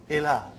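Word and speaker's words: إلى: Ila. Now right now there are no 2 dots. Actually it is hamza, lam and ya. Right now we say ila. It's pronounced as alif.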